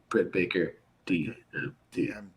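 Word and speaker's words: Britt Baker, D.M.D.: versus soho wait wait you got to say it right brit baker d empty yeah and the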